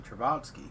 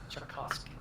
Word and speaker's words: Tchaikovsky: I mean, if we're talking about the best, it's definitely Travatsky, but... Tchaikovsky.